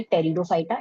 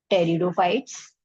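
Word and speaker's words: Pteridophyta: वो आते हैं आपके टेरिडोफाइटा। इसमें पी साइलेंट रहता है टेरिडोफाइट्स जिम्नोस्पर्म्स और एंजस्पर्म्स ठीक है?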